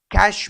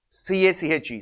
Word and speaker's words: cache: And next, what is cache memory? C-A-C-H-E. Some people pronounce it as cache memory, or some people pronounce it as cache memory. Either way is correct, no problem.